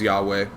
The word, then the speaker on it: Yahweh: i being made yeah that's the hebrew pronunciation for god that's the that's hebrew god's name is yahweh i learned it through